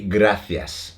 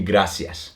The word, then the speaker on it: gracias: But in Spain, they use the th. So it will be gracias.